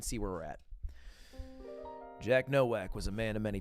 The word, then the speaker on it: Nowak: I should pronounce it in a Polish way. Nowak.